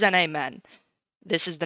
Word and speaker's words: NAmen: to pronounce our name it is n a men I said it wrong at the beginning of the episode because Travis's Discord bullied me but it is an amen this is the name